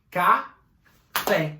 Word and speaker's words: café: Exemplo, café, a última sílaba, ó, café, caiu o canetão. O fé, então, é mais forte.